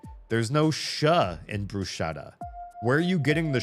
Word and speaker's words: bruschetta: When I heard Americans say bruschetta, I was like, there's no sh in brusetta. Where are you getting the sha from? If you look at how it's spelled, there's no sh in the word.